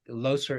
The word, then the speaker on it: Leuser: If not, having been unfamiliar with it in the past, that Loser is spelled Leuser.